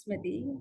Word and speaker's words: Smiti: what's the correct pronunciation is it or it is it is smithy um oh okay there